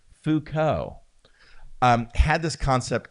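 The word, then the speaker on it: Foucault: I learned how to pronounce name Fuko.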